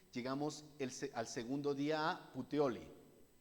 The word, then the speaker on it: Puteoli: el al segundo día putioli sí se debe pronunciar así Eso es como italiano no si si hay